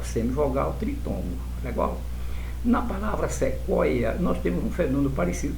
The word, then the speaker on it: sequoia: Em um nível mais profundo, tritongo, esse, olha, é como se eu pronunciasse dois i, sequoia, sequoia.